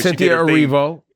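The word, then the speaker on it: Cynthia Erivo: It's just Cynthia Arrivo. I don't know why you adding syllables, but I like to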